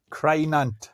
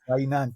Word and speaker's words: Crynant: Oh my God, that pronunciation. Not far off. Crynant. So it's C-R-Y, Crynant, yes.